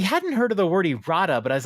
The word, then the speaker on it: errata: heard the word irada did I mispronounce it and so I had to go to a dictionary and I am pronouncing it correct erata sounds dirty I have